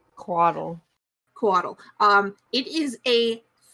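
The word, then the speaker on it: couatl: uh kuato to attack it how do you spell that c-o-u-a-t-l it is a celestial creature what does it look like quaddle quaddle um it is a feathered flying snake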